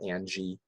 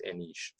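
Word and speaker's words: Anij: I used to call it Angie, like Angjy, but it was Anish.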